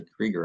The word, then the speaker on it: Krueger: is spelled by Alan Krueger's name but she pronounced as a Krieger I think the German Way and um she's